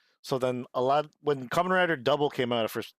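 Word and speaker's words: Kamen Rider W: way they have double they'll use a w and then they'll pronounce that as double so then a lot when Kamen Rider Double came out of first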